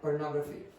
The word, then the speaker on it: pornography: Pornography. Again? Pornography. Now, what's the sound that the Brazilians very often omit? The last one? Yeah, they'll go pornography.